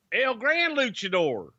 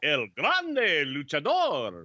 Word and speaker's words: El Grande Luchador: uh el grande luchador say it like you did wrestlemania or royal rumble97 el grand luchador no you're like rolling ours and come on el grande luchador there you go thank you i like